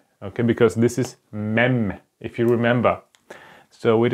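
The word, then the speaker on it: מ: okay, because this is Mem, if you remember. So it is, let me just use this other color. It is pronounced like M, like, for example, like month, okay, like month.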